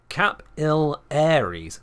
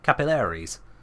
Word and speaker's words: capillaries: pronounce it capil Aries capillaries yeah I can see it but welcome to I am not American yeah capilaries I know it's just putting the stress on the third syllable rather than the second but capillaries not capillaries